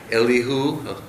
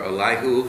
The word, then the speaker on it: Elihu: the material from um elihu or alihu how depending on how you pronounce it but uh since